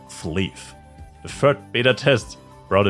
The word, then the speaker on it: Flyff: So before the second beta test, the game was renamed to Fly for Fun Flive, pronounced Fleeve.